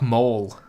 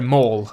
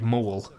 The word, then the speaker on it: Maul: Yeah, sorry, Maul. I mean Maul. I know I say it like Mole, but I mean M-A-U-L.